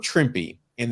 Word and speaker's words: Trimpe: And they have Herb Trimpe, rhymes with Shrimpy.